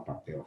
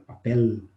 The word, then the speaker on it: papel: Também no espanhol não se fala papel, fala papel. Pronuncia o L.